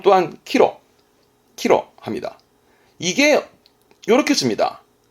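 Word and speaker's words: 岐路: 기로는 발음 또한 키로.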